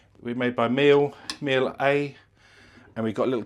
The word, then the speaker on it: Miele: Is that how you pronounce it, Charles? Miele. We're made by Miele. Miele A.